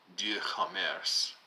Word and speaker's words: doux commerce: policies of the Enlightenment, which is called doux commerce, from the French, which I think I'm roughly pronouncing D-O-U-X, commerce, but with, in French, which roughly translates to sweet, calm, gentle, soft trade or commercial activity.